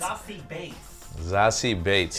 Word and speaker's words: Beetz: Zazie Bates. It's actually how you pronounce her name.